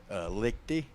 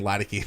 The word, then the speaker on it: Lichty: How do you say your last name first and foremost? Lichty? Yeah, I was way off. I was saying Leideke. I was so far off.